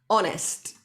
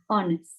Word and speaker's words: honest: or cheat eh harness honest the h here is silent we don't hear it okay honest honest the age sometimes